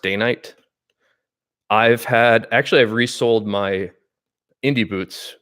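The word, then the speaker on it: Dainite: And this particular boot has a day-night sole, which reads more like Danite, Danite. I believe it's pronounced Danite.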